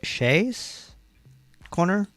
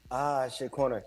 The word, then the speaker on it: Shea Corner: Is it Shay's Corner? Shea Corner. Yes, Shea Corner, yeah. Which is a Vietnamese pop up, right?